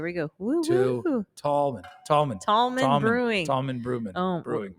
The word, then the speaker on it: Tallman: Tallman.